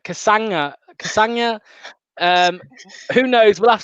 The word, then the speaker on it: Castagne: win soon ben says it's pronounced uh kasanga like lasagna kasanga um who knows we'll